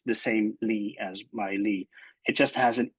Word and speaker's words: Lie: So for instance, Bruce Lee is the same Lee as my Lee.